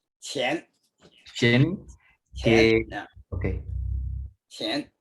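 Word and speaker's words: 乾: acuerdo cómo se pronuncia, Shen, could be the pronunciation of that? qian.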